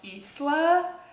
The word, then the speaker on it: Isla: then she's like, oh, he pronounced it correctly with the, like, hissing like a snake. So Isla, but I'm gonna say Isla.